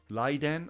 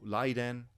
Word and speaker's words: Raiden: into the next one laiden or lijin yes L and R interchangeable in Japanese and they often will say it kind of with an l sound so lighten or Ryden and lijing they're the